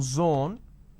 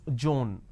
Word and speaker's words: zone: pronounce this as page instead of pronouncing zone They pronounce this as joone now zone is different joone doesn't work there's no such word